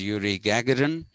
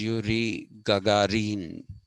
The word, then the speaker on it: Yuri Gagarin: this man called okay the westerners will typically pronounce his name as yuri gagarin that is not the pronunciation the pronunciation is yuri gagarin gagarin that is the pronunciation and that is